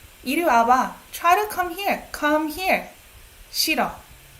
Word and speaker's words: 와봐: So try to pay attention to 와봐. Now that you know it's two syllables.